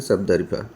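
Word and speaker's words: sabdariffa: ठीक है, तो इसका थोड़ा सा स्पीसीज का डिफिकल्टी है प्रोनाउंसिएशन में, तो इसको हम बोलते हैं सबदरिफा। ठीक है, तो सबदरिफा मतलब सबदरीफा।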